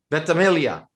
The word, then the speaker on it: Ventimiglia: Ventimiglia. Don't pronounce the G that you see on the screen and you're going to be fine.